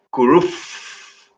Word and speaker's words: kuruf: También la palabra viento, que es kuruf, con la F bien pronunciada.